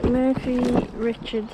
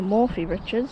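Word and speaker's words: Morphy Richards: get this one out murphy richards or morphe richards depending on how you want to pronounce it table blender and a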